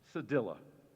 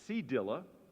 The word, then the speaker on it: cedilla: Cedilla, cedilla. Any alternative pronunciations? There is cedilla or cedilla.